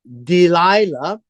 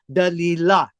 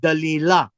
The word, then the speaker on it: Delilah: And her name was, well, in English, it's called Delilah. But in the Hebrew pronunciation is Dalilah, which is very close, right? Dalilah.